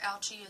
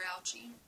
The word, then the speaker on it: Ouchy: father's name says Mr ouchie Lee raises his hand your name rhymes with grouchy grouchy ouchie are you